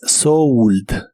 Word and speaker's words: sold: En este caso la O se pronuncia como OU, así que es sold. Sold.